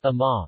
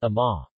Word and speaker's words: amaŋa-oŋ: ends with a vowel, this vowel is typically not pronounced. For instance, Ama O is pronounced Ama, not Ama.